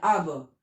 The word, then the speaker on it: aber: मतलब क्या है, नो, आब मतलब होता है बट, ठीक है, ABER, अब, आर उतना प्रोनाउंस नहीं करते, अब, ठीक है।